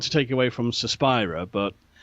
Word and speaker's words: Suspiria: Is it Suspiria or Suspiria? What's the correct pronunciation? I think it's Suspiria. That's more Italianate, and that's how I say it.